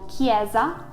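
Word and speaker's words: chiesa: eye or a knee apart from when an h is put in between so for example kieza it becomes hard again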